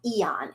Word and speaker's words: Aeon: But there's another patch called Eon, and it's spelled AEON.